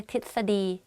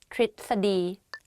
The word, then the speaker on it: ทฤษฎี: tell you a secret, even I don't pronounce this word properly when I talk because it's very difficult to pronounce it like correctly. In daily life, I just say ทฤษฎี ทฤษฎี but it's wrong though. So the correct way of pronouncing this is ทฤษฎี ประพฤติ behave ประพฤติ behave.